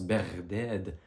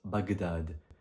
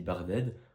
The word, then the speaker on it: Bagdad: nom en question c'est se prononce Berded en arabe mais comme vous vous en doutez en français on le prononce Bagdad. et Bagdad, c'est une ville. Vous voyez que il y a une différence entre la prononciation en français Bagdad et la prononciation en arabe qui est Barded. On roule plus le rein en arabe berded, ça donne ceci.